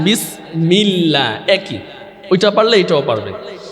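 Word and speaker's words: بسم الله: বিস বিস হবে হ্যাঁ বা উচ্চারণ হয় ঠোঁটের ভিজা অংশ থেকে কোন অংশ থেকে ভিজা অংশ থেকে বিসমিল্লাহ বিসমিল্লাহ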